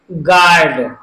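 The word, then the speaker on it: guard: जी यू ए आर डी, इसमें भी you silent है, इसको हम कैसे पढ़ेंगे? गार्ड, गार्ड।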